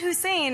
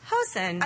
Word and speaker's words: Hussein: I decide to change the pronunciation of my last name. I say, oh, it's not Hussein, it's Hosen.